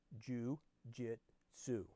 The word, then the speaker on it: jiu-jitsu: asked leo confused the poodle corrected him it's pronounced jiu-jitsu no I've never heard of jiu-jitsu said leo